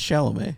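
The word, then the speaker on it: Chalamet: him chamlet is it what is it it's shalam shalam okay chamlet I'm now realizing that I've I've never heard his last name pronounced just seen it on paper Timothy chamlet chamlet chamlet man God damn it chamlet you're loose Cannon's the Dune numbers are not reeling in like they used to oh that's so funny CH sh shalam that's how you pronounce it yeah chamlet I love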